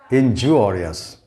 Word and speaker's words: injurious: But this one, in this word, the U changes from A to wa. Injurious.